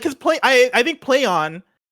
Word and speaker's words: Plaion: up in the article play on is pronounced exactly as you would expect like play on a phrase they hope evokes both